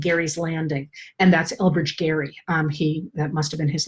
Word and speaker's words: Gerry: It's spelled the same but pronounced differently because English, right? So under Elbridge Gerry, they divided the state of Massachusetts so that their candidates would win.